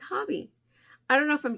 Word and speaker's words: Hobbii: to pronounce it and they're like oh it's hobby I was like why really cuz I say Hobie they say it's hobby I don't know if